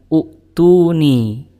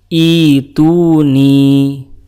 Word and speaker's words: ائتوني: dan ibtida setelahnya itu bacanya bukan utuni tapi dibacanya adalah fisamawat ituni Kenapa dibacanya ituni bukan utuni padahal berdasarkan kaidah kalau huruf ketiganya itu dah maka Hamzah wasalnya juga dibaca dah Untuk itu teman-teman kita akan bedah Apa yang menyebabkan hamzahnya dibaca kasrah Bukan thah teman-teman sekalian